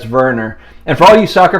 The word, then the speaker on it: Werner: a 2018 teemo verner he is german so i'm assuming that's that's verner and for all you